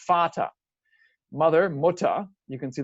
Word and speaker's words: Vater: In German, it's spelled with a V, but it's pronounced the same letter is still that F sound, Vater.